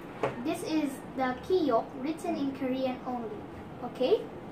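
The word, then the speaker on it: 기역: This is the Kiyok written in Korean only, okay? So the consonant Kiyok is soft G or soft K sound in the beginning but K sound in the final or in the end, okay?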